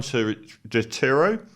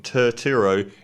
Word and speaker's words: Turturro: um so the italians john turo i always say his name wrong turturro is the son of sal